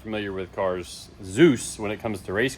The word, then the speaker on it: Dzus: The D is silent, apparently.